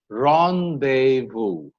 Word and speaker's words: rendezvous: There are some French words that have the Z silent. It's laissez-faire and Rendezvous.